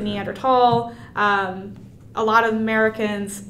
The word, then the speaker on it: Neanderthal: we named neanderthalensis right the H was there but it wasn't meant to be pronounced and then the German